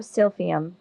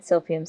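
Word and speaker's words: silphium: only for what we know the Eraser of sfum from Western Daye county is no cause for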